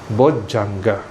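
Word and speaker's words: bojjhaṅga: In Sanskrit, it's pronounced as Bodhyanga. Bodhyanga, Bodhi Anga. But in Pali, because Dhya is kind of a bit tricky, complicated, so they simplify it to J. Okay, Bojjhanga.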